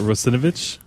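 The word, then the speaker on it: Russinovich: out completely wrong how do you say that rosovich there it is uh he he released his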